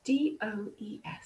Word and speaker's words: DOES: And she talks about DOES. I love a good acronym. Does, but I like pronouncing it as does, as in the female deer.